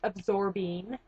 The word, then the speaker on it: Absorbine: It's Absorbine. I hear everybody pronounce it the wrong way. It's Absorbine.